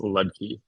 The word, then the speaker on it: Ludke: My last name is Ludke. It's like Key. Lucky with a D in there.